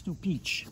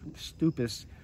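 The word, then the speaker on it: Stupice: back over to actually it's stoich did I call it stus earlier it's stup I just found that out the other other day cuz it's spelled s t u p i c e stupis but it's stoich so it's a Czechoslovakian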